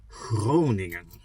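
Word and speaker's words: Groningen: city before I enter Germany and it's called Cronan Cronan that's how the produ pronounce it it's with that that we all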